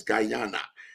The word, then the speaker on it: Guyana: So it's not Ghana, it's Guyana.